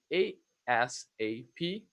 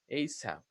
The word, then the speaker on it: ASAP: So you say ASAP or ASAP. That's actually the difference between acronyms and initialisms. Acronyms, ASAP, you pronounce it as a word, ASAP.